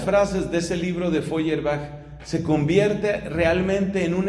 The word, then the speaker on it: Feuerbach: se escribe web efe vb soy airbag se pronuncia ludwig feuerbach publica un libro que es un golpe decisivo